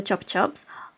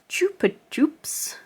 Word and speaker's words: Chupa Chups: And I just want to say something about the Chupa Chups. I've recently discovered that in America, it is pronounced Chupa Chups, whereas in the UK it's Chupa Chups.